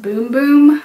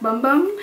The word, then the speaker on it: Bum Bum: this and I know I think it's supposed to be pronounced boom-boom I refuse I like bum bum so this was just